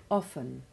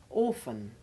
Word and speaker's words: often: no business to be we are thinking of its intrusion by some people in words like often which they pronounce like orphan or off which they make sound like the fish called an oaf you hear it also